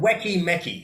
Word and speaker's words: Weki Meki: It's spelled Weki Meki. Wiki Miki.